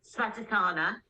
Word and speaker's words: Svadhisthana: chakra we're talking about, which is let me pronounce it correctly, Svadhisthana.